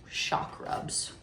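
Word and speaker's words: Chakrubs: So, Shakrubs. Yeah, spelled like chakra. Okay. C H A K R U B S.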